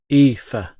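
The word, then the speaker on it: Aoife: It's pronounced EA. Shrugging, I added. It's basically Eva in Irish.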